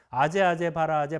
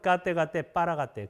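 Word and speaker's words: गते पारगते: 까떼 빠라가떼 빠라쌍가떼 보디스와 이렇게 끝나죠? 이걸 이제 한문으로 번역해가지고 한문을 또 한글로 읽으니까 아제 바라아제 바라승아제 모지사바라고 이렇게 엉뚱한 발음으로 하는데 원래 발음은 까떼 빠라가떼.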